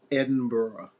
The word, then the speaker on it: Edinburgh: Again, it's not pronounced like Pittsburgh. It's Edinburgh.